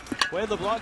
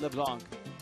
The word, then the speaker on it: LeBlanc: Adeni Etavaria is the short stop and Wayade LeBlanc. You have to go from a Cuban to the French pronunciation there in the eight and N spot.